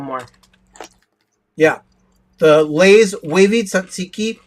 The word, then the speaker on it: tzatziki: I have a sample of the Lay's tzatziki wavy potato chips. Now, I love tzatziki sauce on my stuff at Greek restaurants, and this is just the flavoring of tzatziki sauce.